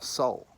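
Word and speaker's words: sol: Now the sun, the Latin word for sun is S-O-L, soul, pronounced soul, just like S-O-U-L.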